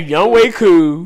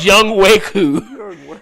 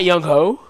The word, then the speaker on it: Younghoe Koo: So I was like, this man's name is Younghoe Koo. I was like, wait, it's not Younghoe. No. Yo, that's insane. Doggone Chisel Adonis, man. Got me saying this man's name wrong for years.